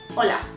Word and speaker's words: hola: this Ola is that this H is silent okay so it put sound like Ola Ola but it's actually a Chu MV hola there are no exceptions